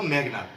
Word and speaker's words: মেঘনাদ: আসলে সংস্কৃত শব্দে এটি হবে মেঘনাদ, আর আমরা বাংলায় যদি বলি তাহলে বলবো মেঘনাদ। কারণ সংস্কৃত শব্দে বাংলা বানানের নিয়মে শব্দের মাঝখানে অধ্বনি থাকলে সেটি ও উচ্চারণ হয়। যেমন মেঘ, এর সাথে অ আছে, তাই এটি ও উচ্চারণ হয়ে যাচ্ছে, মেঘনাদ।